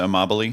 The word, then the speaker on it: Amabile: progress principle you know by Teresa Imel a right I think I pronounced her Teresa Amabile yeah thank you the